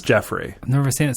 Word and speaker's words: Geoffrey: Well, it's spelled Geoffrey, but it's Jeffrey.